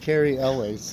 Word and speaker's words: Cary Elwes: Forbes Gary lose how do you say that Cary Elwes Cary Elwes Scott sharp hooks together a strong